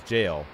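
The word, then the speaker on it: Gaol: Also, the way his name was spelled, G-A-O-L, that is, you do actually say that as jail.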